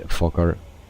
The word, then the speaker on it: Fokker: So for the people that are interested in the Fokker, and some people will say that I pronounce that very wrong or strange. So we say Fokker.